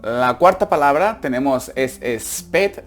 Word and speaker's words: spät: La cuarta palabra tenemos es spät. Recordar que la A con los dos puntitos es una E, se pronuncia una E. Entonces spät, que significa tarde.